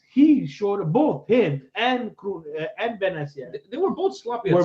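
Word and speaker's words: Bennacer: Some will turn out, a la Benacer, Benacer. Benacer. But I was told that it's Ben, like son of Ben, and Elias was telling me.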